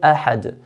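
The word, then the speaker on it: أحد: Ahad ends with a dal, and dal is one of the 5 qalqala letters. So because it ends with a dal, we're stopping, a forced stop with a dal, a forced sukoon with a dal, we make an echo bouncing sound.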